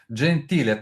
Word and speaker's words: Gentile: Also want to thank Frank Zappa for uniting me with today's guest, Francesco Gentle. How do you pronounce it? Francesco. Gentile.